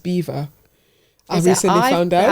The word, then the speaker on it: Belvoir: Apparently it's pronounced beaver. I recently found out. I haven't called it that. Beaver. Apparently it's called Beaver.